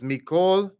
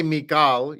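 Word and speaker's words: מִכֹּל: So line 11, instead of Mikal, it would be like Mikol. So line 11 is Mikol ha'amim. It is what it is. If you say Mikal, you will not be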